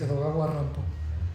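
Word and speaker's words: Edogawa Rampo: autor taro hirai alias edog ar rampo quien ya desde ahí nos hace patente su ironía ya que su seudónimo se podía leer como Edgar Alan pero pronunciado por un japonés en este cuento una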